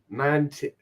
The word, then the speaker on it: mantid: But do I pronounce the D? Mantid. Yeah, all right.